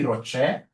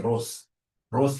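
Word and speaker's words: ROCE: easy whenever I see Rocher please don't pronounce this as Ros is my sister Ross is your mother professionally we pronounce this as Rocher whenever I see this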